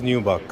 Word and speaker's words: nubuck: We call mostly people pronounce it as nubuck. It's Nubuck. nubuck, right?